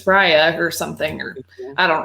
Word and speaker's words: Raya: and the last dragon i said it right i was waiting marley was like it's not rhea and i'm sorry well i thought it was reya for the longest time until i saw the movie and they were like